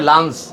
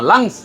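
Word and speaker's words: lungs: plural হবে লাংস হবে অনেকে উচ্চারণ করে লাঞ্চ না লাঞ্চ না লাংস এল ইউ এন জি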